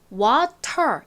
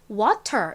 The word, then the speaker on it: water: 미국 사람들이 영어로 발음을 할 때 water 이라고 하면 되는데 굳이 이 T 발음을요. 리을 마냥 하는 거예요. 그래서 water이 아니라 미국 사람들은 주로 이 물이라는 단어를 water 이렇게 T를 리을처럼 발음을 합니다.